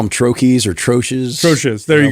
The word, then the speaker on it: troche: you look it up, I think it's from the French. I think you're supposed to say Troche. Something like that. Yeah. Okay. The common pronunciation is troche, so let's just stick with that.